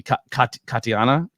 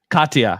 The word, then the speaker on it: Katya: Katiana. Am I saying that right? Katya.